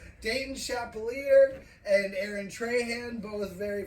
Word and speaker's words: Chappelear: Chappelear. Chappelear. All right, Chappelear.